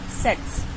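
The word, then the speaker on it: tsetse: इसको कहते हैं सेट्स। इसमें टी साइलेंट रहेगा तो होता है ये सेट्स।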